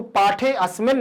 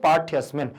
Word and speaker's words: पाठ्यस्मिन्: उच्चारण क्या है कि इसको पाठे अस्मिन् नहीं पढ़ सकते, इसको पढ़ेंगे पाठ्यस्मिन्।